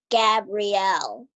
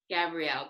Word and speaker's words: Gabrielle: and you kind of send my name wrong Gabby it's Gabrielle Gabrielle but do you go